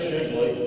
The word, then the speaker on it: Shigley: My name is Shigley. To help you remember on the ballot, that rhymes with Piggly Wiggly.